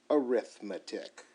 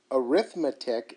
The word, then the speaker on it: arithmetic: You may think I do not know how to pronounce the word arithmetic. I do. Arithmetic is a noun. Arithmetic is what you say when it's used as an adjective.